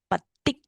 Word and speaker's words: Paticca: Paticca Samuppada. So you have to pronounce patik. You curl the tongue. Patik. Okay, patik.